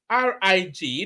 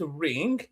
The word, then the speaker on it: rig: They will call concern, they will call it consign. Concern is a concern. It's only two syllables. So I'm not quite sure where there's a struggle there. Rig is only one syllable.